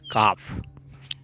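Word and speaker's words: calf: mail काफ बट इट्स काफ and again but the word काफ इज L silent here C ए एल एफ काफ just similar to would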